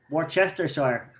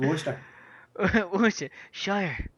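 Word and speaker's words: Worcestershire: Chester Shire I know I can't say it War Chester Shire that's what it's actually called but it's pronounced wer sh let's go to the sh orchester sauce yeah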